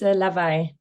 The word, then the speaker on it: Lawaai: It's a lava and it's the Dutch word for noise.